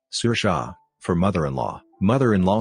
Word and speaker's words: Saoirse: say it's not and break it down to sounds sir Shaw for mother-in-law mother-in-law says